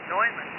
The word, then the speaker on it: Neumann: well it it's just this new Neumann honest pronounced Neumann they said they tell